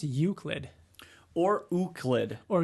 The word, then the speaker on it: Euclid: Or Euclid. Or Euclid. We just went back to not knowing. It's Euclid. It's Euclid. Yeah. Like eucalyptus. No, like you and then Clid.